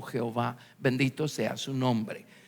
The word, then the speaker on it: Jehová: para poderlo pronunciar Pues los hombres le agregaron vocales y es el nombre que pronunciamos como Jehová bendito sea su nombre